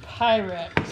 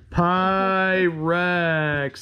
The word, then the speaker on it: Pyrex: those pyrex okay and pirates can you say pyrex our people taught us how to say it pi rex this is h 57